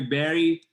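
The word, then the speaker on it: Barış: Istanbul Turkey and the the original name is actually it's a a lot different it's a lot harder to pronounce for everybody wow so be creative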